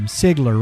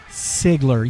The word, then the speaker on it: Sigler: like man it's okay everybody's butchered his name Sigler right Sigler yes that's it it is it's a